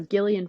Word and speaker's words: Gillian: the other day uh Gillian Flynn can confirm this is how she pronounced her name it's not Jillian it's Gillian uh she did an